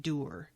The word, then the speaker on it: dour: kind of like it so you pronounce it dower too because i've always pronounced it dower and then the last two audio books i listened to they said doer and i don't like door no i don't either